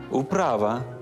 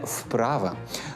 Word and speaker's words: вправа: мавпа сказав авторитет аураменко також треба вимовляти у нескладовий перед приголосним вок перед приголосним к управа перед приголосним п не вовк і не вправа До речі в білоруській